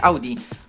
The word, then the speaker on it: Audi: hor oznacza Słuchaj słyszeć a to słowo w łacinie wymawia się Audi nazwa spodobała się Augustowi